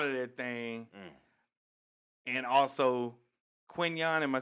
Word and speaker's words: Quinnen: And also Quinyon, am I saying it right? Yeah, Quinnen Williams.